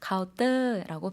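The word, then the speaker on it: เคาน์เตอร์: 한국어로는 카운터 이렇게 발음했지만 똑같은 영어이더라도 태국어에서는 카운터 니은 발음 없어졌고요. 터도 뜨라고 발음하되 성조를 약간 살려서 카운터라고 발음해 주시면 된다라고 짚어봤습니다.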